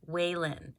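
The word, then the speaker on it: Whaline: last video i got them from amazon and it's spelled w-h-a-l-i-n-e waylin so if you're interested in these papers just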